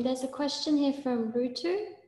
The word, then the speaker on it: Rutu: I also was wondering, there's a question here from Rutu. Is that the right pronunciation? Yes, Rutu.